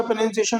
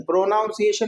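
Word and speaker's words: pronunciation: तो इसका प्रोनंसिएशन होता है आई। प्रोनंसिएशन होता है। क्या होता है? प्रोनसिएशन। प्रोनाउंसिएशन नहीं प्रोसिएशन। बोल करके देखिएगा। प्रोनसिएशन।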